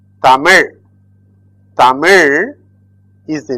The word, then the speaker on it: Tamil: This is ta, mi, il. Tamil.